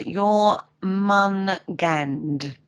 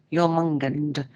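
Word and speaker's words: Jörmungandr: a quickie before we break um jumungand is pronounced you're mon gand your mungand otherwise known as the great beast it's also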